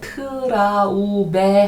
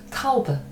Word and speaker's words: Traube: 이것도 발음하실 때 트라우베 하지 마시고 타우브. 트는 지금 한번 치고 넘어간다. 이 정도로 생각하시면 될 것 같아요.